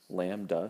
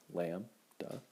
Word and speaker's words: lambda: write this in parentheses so you know how to say it lamb du say it with me lamb du and it is used